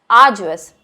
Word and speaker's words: arduous: This word that you are seeing right now is pronounced as arduous.